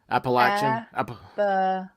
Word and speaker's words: Appalachian: do I do it Appalachian latch it's like a latch if you say Appalachian Appalachian thank you because now